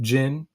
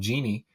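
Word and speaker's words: jinn: Um it's more of an angllicized version of Jin. Um it's really J I N and some people spell it DJ J I N. That's better than genie.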